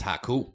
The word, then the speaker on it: Haku: It's Haku. Haku, he lasted 22 minutes.